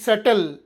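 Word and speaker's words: subtle: bomb bomb ಅಲ್ಲಬಿಓಎಂಬಿ bomb ಸಾಮಾನ್ಯವಾಗಿ ಟಿ ಅಕ್ಷರದ ಮುಂಚೆಬಿ ಬಂದರೆ ಬಿ ಸೈಲೆಂಟ್ ಆಗಿರುತ್ತದೆ ಹೇಗೆ ಡಿಬಿಟಿ ಡೆಟ್ ಸಾಲ ಡಿಬಿಟಿ ಡೆಟ್ ಡೆಪ್ಟ್ ಅಲ್ಲ ಡೆಟ್ ಡಿಓ ಯುಬಿಟಿ ಡೌಟ್ ಅನುಮಾನ ಎಸ್ ಯುಬಿಟಿ ಯಲ್ಲಿ ಸೆಟಲ್ ಈ ಮೂರರಲ್ಲೂ ಬಿ ಸೈಲೆಂಟ್ ಇದೆ ಕಾರಣ ಅವು ಟಿ ಗಿಂತ ಮುಂಚೆ ಬಂದಿದೆ ಈಗ ಸೈಲೆಂಟ್ ಸಿ ನಿಯಮ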